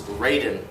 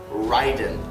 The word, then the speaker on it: Raiden: example of this is raiden i understand that the japanese pronunciation of the name raiden would be ryden however the video game